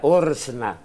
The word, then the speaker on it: ORSNA: Ya hemos dicho que es presidente de algo que se pronunciaría ORSNA, pero que es el organismo regulador del Sistema Nacional de Aeropuertos.